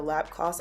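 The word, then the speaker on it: Lapcos: I'm going to go in with is the lap cost I believe that's the name of it it's spelled l-a-p-c-o-s um pink Essence micro serum mist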